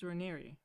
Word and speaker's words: Raniere: You know that it's Raniere, right?